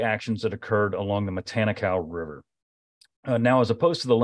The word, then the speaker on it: Matanikau: I'm trying to learn how to pronounce Matanikau today.